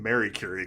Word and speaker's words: Marie Curie: Curie goes into the we're saying Mary Curie because that's how they pronounce it in the movie Marie Curie goes into